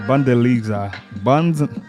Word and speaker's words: Bundesliga: Bundesliga.